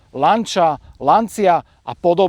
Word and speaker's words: Lancia: But the most common way I came across was that it's pronounced "Lanča".